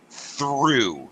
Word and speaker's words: through: commonly mispronounced and um because it's not really spelled the way it sounds through came in through the